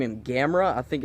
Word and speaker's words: Gamera: said to name him Gamera I think it's I pronounced ACCA's he said that it's pronounced like camera and you know he